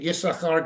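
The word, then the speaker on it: יששכר: 14, Yisachar gets even less. And again, remember, we say Yisachar, we don't pronounce the second sin.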